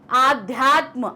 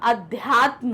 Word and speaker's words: अध्यात्म: फिर है आध्यात्म, आध्यात्म नहीं होता, अध्यात्म होता है, आध्यात्म नहीं होगा, क्या होगा?